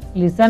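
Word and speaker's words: listen: यहाँ पर लिसन में टी साइलेंट है।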